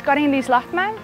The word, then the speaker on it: Karin-Liis Lahtmäe: I should probably say it in Estonian, like how I pronounce my name, really. Yeah. Yeah, okay. My name is Karin-Liis Lahtmäe.